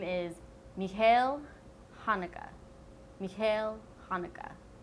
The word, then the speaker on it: Haneke: His name is Michael Haneke. Michael Haneke. Not Michael Haneke. It's Michael Haneke, like the holiday.